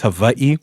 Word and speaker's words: Hawaii: No, I think it's Hawaii. There's an apostrophe, right? They pronounce the W's as V's.